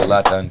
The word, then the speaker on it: Lathan: But that's how they say my name in French. They don't say Lathan, they say Lathan.